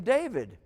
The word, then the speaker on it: David: the Hebrew d dalit this is the name David and it would be pronounced da vid David this is the this